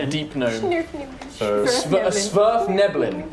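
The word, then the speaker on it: Svirfneblin: Smurf Nibblin is the correct pronunciation.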